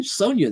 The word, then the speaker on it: Sonja: age character, would be Red Sonja with a J, even pronounced the same, and it wouldn't be quite the same character as in the other book.